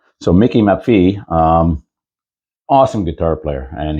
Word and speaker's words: Maffei: name properly um it's m-a-f-f-e-i but evidently it's pronounced map B map V so Mickey Mafi um awesome guitar player and he's just released